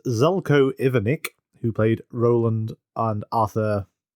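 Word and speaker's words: Zeljko Ivanek: I'm pronounce this correctly I wrote down the phonetic version It's Zelo ivanic who played Roland and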